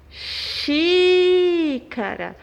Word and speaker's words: xícara: Proparoxítonas, quando a sílaba tônica é a antepenúltima. Exemplos: médico. Xícara.